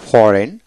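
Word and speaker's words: foreign: যেমন ফরেন, ফরেন। Right, R আই জি এস T right, right বানান করতে হলে আর আই টি রাইট, এখানে জি উচ্চারিত হবে না, এইচ উচ্চারিত হবে না।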